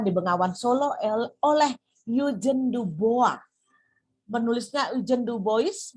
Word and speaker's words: Dubois: erectus juga ditemukan di Bengawan Solo oleh newgen d'boa menulisnya ujian Dubois bacanya membaca you can do both a seorang